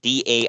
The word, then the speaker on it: Daizee: Daisy Hayes is Daizee.